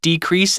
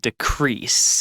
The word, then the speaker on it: decrease: besom in certifying but when we use it as a verb we pronounce it as decrease yeah so there are two different ways of saying this word decrease and decrease and I think there are differences between the noun and the verb usage but also between